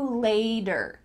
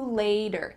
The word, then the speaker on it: later: So let's practice changing the T to a D. See you later. See you later.